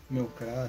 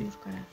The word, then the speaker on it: Meowscarada: Meowscarada, se pronuncia así. Meowscarada.